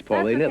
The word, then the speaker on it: Paulina: It's Paulina. That's okay. It's a very hard name to pronounce.